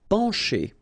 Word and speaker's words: pencher: Pencher. Okay, remember, E-N nasal, pen, pencher. Okay, C and H together will produce the sound sh.